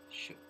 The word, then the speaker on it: shaked: Is it saying that there's two different pronunciations? No, but that. Shaked.